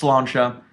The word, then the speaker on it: Sláinte: It's just kind of like a Gaelic way of saying cheers or salud, and it is pronounced Sláinte.